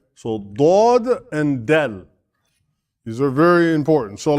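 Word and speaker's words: دال: Dad is not the same as Del. Del, right? Del is like this, And it is spelled in Arabic like that. Dal. Right? So Dod and Dal.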